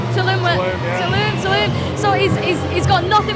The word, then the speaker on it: Tulum: Am I pronouncing that right? Tulum.